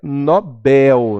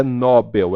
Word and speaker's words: Nobel: libido tá E é Nobel não é Nobel ela é uma oxítona e as pessoas erradamente pronunciam como paroxítona não há como eu